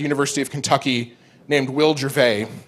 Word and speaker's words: Gervais: of Kentucky named Will Gervais. And it's spelled Gervais, like Ricky Gervais. But his name is Will Gervais.